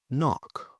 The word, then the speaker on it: knock: Now the silent K before an N. For example, no. Knife, knee, or knock.